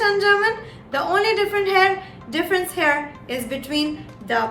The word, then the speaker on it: H: one is h so h in german is pronounced as ha ha now the word that i would like